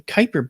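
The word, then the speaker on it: Kuiper: That's called the Kyper belt. and that's spelled k ui p er.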